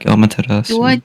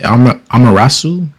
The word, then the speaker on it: Amaterasu: Amarasu? Amaterasu.